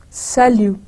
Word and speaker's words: salut: bonjour or you use salut. Again, you see the T is, we don't pronounce, it's silent. Salut.